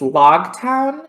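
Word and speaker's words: Loguetown: the literal science is like okay it's it's pronounced really it's log town uh it is in prologue as in the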